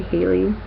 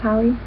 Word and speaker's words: Hallie: I have to say, actually, when I say Hallie's name, I usually say Haley, but I know that's not your name. I think it's pronounced Hallie, right?